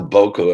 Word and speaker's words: Buku: I'm going to write you a song called Buku Morocco." And it's pronounced Boku if you're going to do it properly, but I don't. This is how I do it.